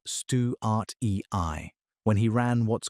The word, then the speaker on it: Antechinus stuartii: Bradley was studying a species called Antechinus stuartii, pronounced stew-art-e-i, when he ran what's